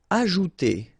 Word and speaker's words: ajouter: Ajouter. So remember, j is really pronounced like j.